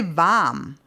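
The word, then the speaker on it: warm: this particular word like varm most cases we will just say vam we won't even say the r particularly in Austria and the more southern areas of Germany but technically if you want to speak very very proper you say v that's true however there isn't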